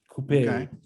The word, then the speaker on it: coupe: is the coupe yeah coupe kind of like rhymes with the hairpiece i'm going to be